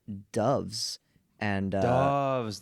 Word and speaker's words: Doves: And uh Doves, that's how you say it.